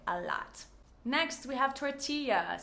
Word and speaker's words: tortilla: Next, we have tortilla. So we do pronounce this similar to the Spanish. We have the double L, just like paella, tortilla, or tortilla.